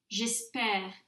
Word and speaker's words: j'espère: J'espère, tu espères, il espère, nous espérons, vous espérez, ils espèrent. And that is the difference of pronunciation between E, accent aigu, and E, accent grave.